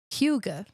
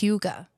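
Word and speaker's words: hygge: Although a little bit different of a pronunciation. That's just a little differently. It's Finnish, right? Like Swedish. okay, sorry. Huga. Yeah. Okay. It's Huga. Oh, see, I've been saying it wrong for years. But I yes. listened to No, it. it's not hug.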